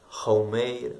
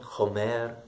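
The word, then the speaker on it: חומר: Resh, wie der Esel, dann aber anstatt Chamor eher Chaumeir ausgesprochen, Chomer, je nach Dialekt wieder mal.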